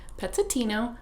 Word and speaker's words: Pezzettino: Pezzettino by Leo Leonni His name was Pezzettino.